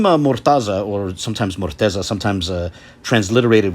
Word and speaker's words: Mortaza: Now, you may have noticed that the pronunciation and transliteration previously had a Z phoneme, while now it has a D phoneme, Mortaza, Murtaḍa.